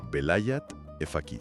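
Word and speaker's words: velayat-e faqih: todo, el velayat efaki, que para quienes nos escuchan lo pronunciaríamos algo así como velayat efqui.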